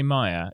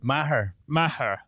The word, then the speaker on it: Meagher: have got the wonderful Joseph Emslie and John Meagher. Hey. Now, can I just say, I always say Meagher. Is that correct? No, not even close. Not even close? No, it's good. Meagher.